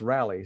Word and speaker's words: Raleigh: them rallies and that Raleigh is actually pronounced rally so again uh that's